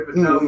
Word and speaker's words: Fatone: They call him Fat One, but it's pronounced Fatone, Kind of crazy.